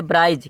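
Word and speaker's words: bridge: आ रहा है डी जी से पहले क्या आ रहा है डी तोडी क्या हो जाएगा साइलेंट व तो पढ़ने में आता है ब्राइज क्या करना बी आर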